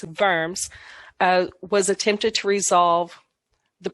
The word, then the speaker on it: Worms: know it looks like worms but it's german so the w is pronounced like a v it's in verms was attempted to resolve